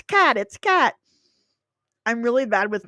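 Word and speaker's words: Katt: Is it William Catt or William Cott? Because I called him William Cott on my video about the greatest American hero, and I got comments being like, it's Cat.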